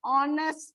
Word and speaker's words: honest: But you write an honest man, an heir. If you see here, H is silent, and that's why you get a vowel sound.